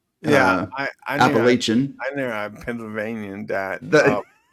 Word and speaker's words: Appalachian: Appalachian order I mean I think you did fine pronouncing that except that uh it's Appalachian and not Appalachian I know I'm Pennsylvanian